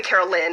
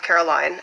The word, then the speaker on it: Caroline: are liking um you would you call me carol lynn instead of caroline um i think that